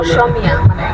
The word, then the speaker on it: অসমীয়া: অসমীয়া, কিন্তু ওইটার অরিজিনাল উচ্চারণ হবে অসমীয়া।